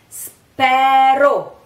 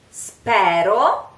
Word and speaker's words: spero: Spero is another word like lieto. It's very common to hear it pronounced spero. Spero, spero. Spero is the right pronunciation, the correct diction. But a lot of people say spero, spero, I hope, spero.